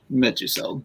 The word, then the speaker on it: Meduseld: And Kevin, correct me if I mispronounce that one word, please. Meduseld, yeah.